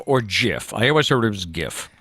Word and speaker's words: GIF: said i'm pretty sure he said it was jiff he also died yesterday so what that's awesome weird setup that's out to the man who gave us the gift well hopefully we can find out the re